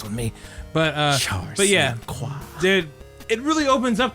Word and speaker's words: LaCroix: Yeah, his last name, it's like that water. They pronounce it LaCroix. It's LaCroix.